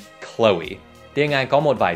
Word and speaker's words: Chloe: Nó không phải Chloe mà là Chloe. Hai âm tiết Chloe.